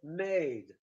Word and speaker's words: made: it's made in poland so even if you divorce a little bit the word made made the distinctive feature will remain the vowel length so they will recognize the word by the vowel by the length of the vowel and please do not